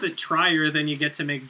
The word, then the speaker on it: Trier: still Jack Bower larsman Tri Tri doesn't have any idea what he's doing I keep like I don't I know I'm supposed to pronounce it Trier and I did like